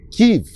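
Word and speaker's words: Kyiv: tarde eh à capital, a Kiv ou Kiev. Aliás, esse é um detalhe interessantíssimo que muitas pessoas, muitos ucranianos chamam atenção. Kiv, eh, a grafia K, Y e V, é a forma ucraniana, de se dizer a capital da Ucrânia.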